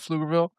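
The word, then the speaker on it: Pflugerville: There's a town in Texas called Flugerville. It's Let me guess, it's spelled P F L U G E R. That's literally how it's spelled. P F L U G- E R. Now, put a V behind that and you have a town name.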